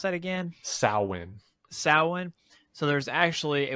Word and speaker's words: Samhain: So on that holiday, how did you pronounce that again? Samhain.